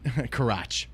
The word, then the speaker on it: Karach: Florida fifth grader Tyler Karach said, Karach. That is how it's pronounced. I looked it up.